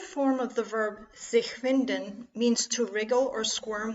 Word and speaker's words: Winden: While not etymologically related to it, the German pronunciation of Winden also turns the verb into a homophone of the English noun wind.